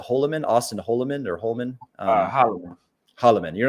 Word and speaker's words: Holleman: ways, you are not even, how do you pronounce, is it Holloman, Austin Holloman or Holman? Holloman.